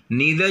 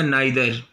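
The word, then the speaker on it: neither: लेकिन अगर दो में से कोई नहीं हो तो नीदर, नीदर या नाइदर. दो में से कोई नहीं, दो लोगों में से कोई नहीं है तो उसकी मीनिंग नीदर है या नाइदर भी प्रोनाउंस करते हैं.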